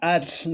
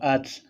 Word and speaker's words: atl: En el idioma náhuatl se va a utilizar mucho TL. Se va a utilizar mucho tela para pronunciar atl. Pero no así, atl, no. Es más fluido, atl, así. Xonacat.